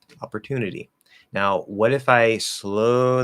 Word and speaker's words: opportunity: Okay, so opportu, that's a stressed syllable, so that T is going to be fine. But the second T is between two vowel sounds. The letter Y is just the E sound there at the end. So it's at the start of an unstressed syllable between two vowels, comes a flap D, opportunity.